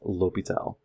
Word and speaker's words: L'Hôpital: Yes, it's spelled L'Hospital, but I definitely will tell you it is L'Hôpital.